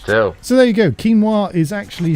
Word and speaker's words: quinoa: someone, and I go, have you ever tried that quinoa? And they went, quinoa? Do you mean quinoa? And I went, oh, is that how you say it?